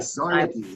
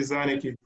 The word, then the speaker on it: Szarnicki: No, I mean the S is silent. Yeah, so like Szarnicki. Szarnicki. Okay. So the S is silent, right? Yes, it is. Okay, so Szarnicki.